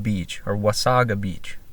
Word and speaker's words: Wasaga: little beach town called Wasaga Beach, or Wasaga Beach. I say Wasaga. I guess both pronunciations work. I asked some locals and they all kind of agreed on that.